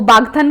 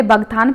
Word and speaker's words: बागथन: तो बागथन को मैं पहले बगथान प्रोनाउंस करती थी और किसी ने मुझे बताया था कि ये इसको बागथन कहते हैं।